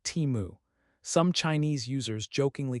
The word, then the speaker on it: Temu: It chose a concise and easy to remember name pronounced like Timu.